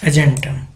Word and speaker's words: argentum: This R is silent, so we speak argentum.